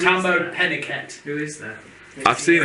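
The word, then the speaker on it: Tahmoh Penikett: I've gone with Tamar Pennicott. With who? To be fair to him, I couldn't even pronounce that name. It's Tambo Pennicott.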